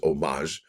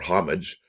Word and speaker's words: homage: The standing liberty quarter design pays homage or homage. I think I don't think it's you pronounce the H, do you?